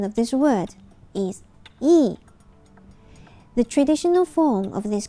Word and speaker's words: 义: virtue and the Chinese word for it the pronunciation of this word is e the traditional form of this character is written